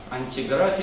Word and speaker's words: Антиграфия: Самое ранее известное его сочинение «Антиграфия», ну просто не так привык произносить, там ударение на последний слог.